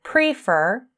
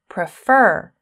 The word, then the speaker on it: prefer: So if you listen to how I say prefer, you can hear that the second syllable is stressed. I don't say prefer, I say prefer.